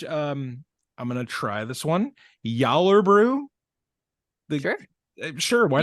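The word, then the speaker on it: Gjallarbrú: Yallerbrew. Sure. Sure, why not? Yallerbrew. Yeah. Yeah. The G's are pronounced as J's.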